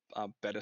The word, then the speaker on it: Beta: We'll call it Better Squad, pronounced beta, like spelled beta, but pronounced better.